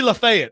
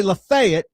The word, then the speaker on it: Lafayette: If you say de Lafayette. Marquis de Lafayette. If you say Lafayette, it's it's cut and dried. You're mispronouncing.